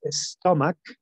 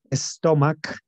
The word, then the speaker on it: stomach: Number three is stomach, y la es con la pronunciación de S, stomach, esa CH suena como una K, como nuestra K en español, ¿no?